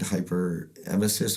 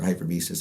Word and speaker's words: hyperemesis: So it's kind of, so what it's called CHS, which is it's cannabinoid hyperemesis or hypermesis. I forget how to pronounce it.